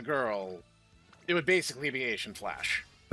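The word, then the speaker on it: Eishin Flash: So, uh, speaking of cute designs, uh, the one I have next is Asian Flash. And if she was truly German, her name would actually be pronounced Aishin Flash, but technically she was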